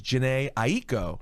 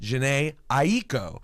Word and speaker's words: Jhené Aiko: like my name is janae ie ko and I said okay I'm gonna introduce you how do you say it exactly janae ie ko so I was like